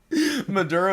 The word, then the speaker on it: Maduro: Maduro again Maduro is a hard pronounce his name think of Maduro cigars Maduro like